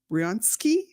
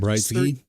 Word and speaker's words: Britzky: Our next person is Zoe Riansky, I think is how you say that. Britzky. Britzky. That That's if there isn't a um It looks like there might be a silent letter in there.